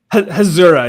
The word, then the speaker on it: Hasura: Hasura, yeah.